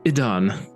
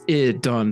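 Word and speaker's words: Ihdawn: uh the name is Adon sorry I see and I know it sounds rather similar to your God it's earon sorry emphasis on the ear um he just like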